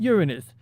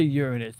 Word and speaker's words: Uranus: Not Uranus. See, I don't like when people say Uranus. It sounds like they're saying Uran us, but like Uranus, that's the right way to say it.